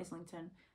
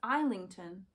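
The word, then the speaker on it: Islington: wrong this whole time it's not is linkon it's I linkon so my apologies to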